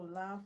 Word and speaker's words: laugh: The L is silent. Okay, have. Right. So laugh rhymes with have.